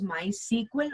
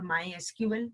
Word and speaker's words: MySQL: It is pronounced as MySQL or MySQL, the way you are comfortable with.